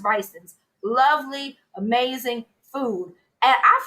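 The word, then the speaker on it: Brigtsen's: It's the one that just for the listeners, it looks like Brixton's. So you're going to look it up online, BRIGSTN''S, pronounced Bryson's.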